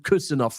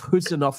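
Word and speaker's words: Khusanov: get the pronunciation of Kusanov right. Sorry, I did it wrong. You need to get the pronunciation of Kusanov right. It's a silent K.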